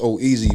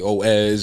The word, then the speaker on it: Oeze: cause it's like uh it's pronounced oh easy but the way it's spelled it don't look like easy some people say oh s or uzi i thought it was zoozy a lot of people